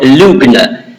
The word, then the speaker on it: Lügner: him not Luther but Lügner. Lügner in German means liar. So it sort of rhymes, Luther, the Lügner, in German it rhymes, and that's sort of very insulting.